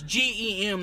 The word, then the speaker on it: Gem: not J I am its GE M like a gemstone dumbass okay let me get